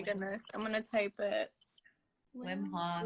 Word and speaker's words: Wim Hof: Wilm Hof? Yeah. Wim Hof. Wilm Hof. Erika. I'm so sorry. How do you pronounce it again? Wilm Hof? Oh my goodness. I'm gonna type it. Wim Hof. Wim Hof.